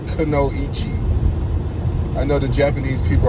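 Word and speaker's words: kunoichi: to most attracted to and that was the kanoichi now please i hear people online all over the place pronouncing this name that's how you pronounce the name it's not kano ichi i know the japanese people are cringing out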